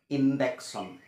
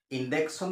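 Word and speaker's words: injection: প্রায় মানুষ কওয়া হনুম এটুকু যে ইন্ডেক্সন ইনজেকশন বলে কোন বস্তু না আসলে এটা হইছে ইনজেকশন ইনজেক্ট করা খুসমারি ভরা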